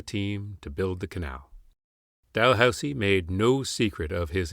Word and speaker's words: Dalhousie: a Haligonian university, not Delusi like the Niagara Peninsular port north of St. Catharines, or the Ottawa red light street of Dalhousie. Dalhousie. The S is pronounced "s" not "z".